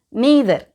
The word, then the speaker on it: neither: Next நீதர். இதை நைதர் அப்படின்னு கூட ப்ரொனவுன்ஸ் பண்ணலாம்.